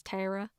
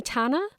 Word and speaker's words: Tara: name's Tara, but there the name is Tara. Though it sounds like terror.